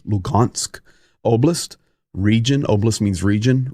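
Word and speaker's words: Luhansk: between donet and lugansk and I know it says an H but it's pronounced with a G lugansk oist region oist means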